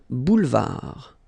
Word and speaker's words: boulevard: Un boulevard. Final D not pronounced. Un boulevard.